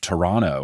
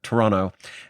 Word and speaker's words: Toronto: broadcaster and anchor, etc., calls it Toronto with that hard second T. I really think it's just like an American versus Canadian pronunciation thing. I think it mostly comes down to that.